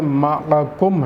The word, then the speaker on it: مَعَكُمْ: أَقَمْتُمُ الصَّلَاةَ وَآتَيْتُمُ الزَّكَاةَ۔ مَعَكُمْ میں میم عین کے اوپر زبر ہے، تو تلفظ میں یہ کوئی غلط فہمی نہ ہو جائے کہ یہ کیا لفظ ہے۔ معکم ہے۔ لئن اقمتم الصلاة وآتیتم